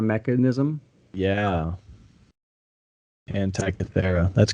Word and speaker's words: Antikythera: The what ancient Antikythera mechanism. Yeah. Anti-Cathedra.